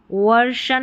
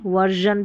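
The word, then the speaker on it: version: तो आर के बाद में एस आई ओ एन रहेगा तो हम उसको जन पढ़ेंगे और उसके लिए एस आई ओ एन ही लिखा जाता है स्पेलिंग में। तो यहाँ पर सभी में देखिए आर आर दे रखा है और इसको डाइवर्शन नहीं पढ़ेंगे, डाइवर्जन पढ़ेंगे, इमर्शन नहीं इमर्जन पढ़ेंगे, वर्शन नहीं वर्जन पढ़ेंगे। देखिए यहाँ पर है कन्वर्जन,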